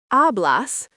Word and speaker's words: hablas: Hablas, pronounced hablas, means you speak.